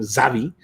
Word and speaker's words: Xavi: agree with him uh xavi fantastic player it took me like three years to learn how to pronounce his name properly because who knows uh the x made the name zavi that's a that's a